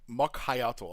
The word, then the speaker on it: Mokhyotl: you're skilled enough to we got an official pronunciation. Hold on. dangerous than a Nagua awaits. The Doom of Mokhyotl. Mokhyotl.